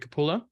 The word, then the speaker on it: Capullo: I do my little introduction let me just pronounce the names make sure I get them right Todd McFarland and Greg capulla that's us perfect I just never want to